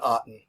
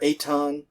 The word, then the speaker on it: Aten: Well, he gives this God the name Aten. Aten, or Aton, and you'll hear me pronounce it both ways probably.